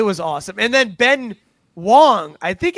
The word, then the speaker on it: Wang: And then Ben Wong. I think it's Wong. It's it's spelled W A N G, but I think it's pronounced Wong.